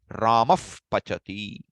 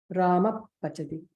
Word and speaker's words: Upadhmaniya: The Visarga, which is followed by Pa or Pa, will be pronounced as the F sound. Ramaf Pachati.